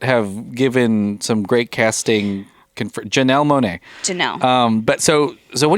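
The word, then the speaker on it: Janelle Monáe: from sources that have given some great casting janelle monae um but so so what do you think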